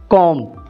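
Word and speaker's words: comb: झाड़ू, broom, broom, कंगी, कॉम, इसमें B silent होता है, कॉम, सोफा, खाउच, खाउच,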